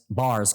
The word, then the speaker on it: Barres: It's pronounced Bars.